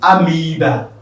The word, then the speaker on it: amoeba: It is pronounced amoeba, because if you come across it in exams, it's not oe, but rather it is what? E, amoeba.